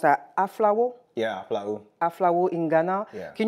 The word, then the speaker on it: Aflao: So how was, you know, life growing up in, how do you pronounce that, Aflao? Yeah, Aflao.